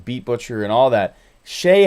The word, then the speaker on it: Chaix: Shay has a ridiculously low price drum kit that should cost like 30 or 40 bucks. It's $5. His name is spelled Chaix.